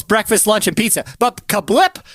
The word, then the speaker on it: CABLT: It is spelled CABLT. CABLT, and it's pronounced Kablip. Okay, the restaurant is called Kablip, so it happens to be an acronym for Criss Angel Breakfast, Lunch, and Pizza.